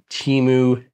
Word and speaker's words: Temu: And some retailers, like, I guess it's pronounced Temu based on the Temu. Super Bowl commercials. Yeah. Temu. I always said Temu, but apparently it's Temu.